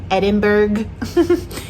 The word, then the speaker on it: Edinburgh: It is spelled like Musselburgh, but it is pronounced Musselburgh, like Edinburgh. Edinburgh is pronounced Edinburgh, but spelled like Edinburgh.